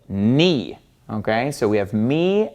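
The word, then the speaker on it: ν: But it doesn't make a V sound, it makes an N sound. This is ni, ni. So you got to get used to pronouncing this as an N, ni.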